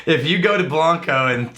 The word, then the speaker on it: Blanco: videos back I hassled Blanco Texas and I totally insisted that it was Blanco it's actually Blanco if you go to Blanco and say Blanco they